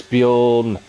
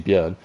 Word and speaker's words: Björn: options that are available as Bjorn, as I pronounce his name wrong because it is actually Björn, goes completely wide at Cops.